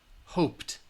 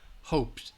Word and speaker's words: hoped: means you should in the comments write T hoped all right hoped again it'll help if you're you're somewhere and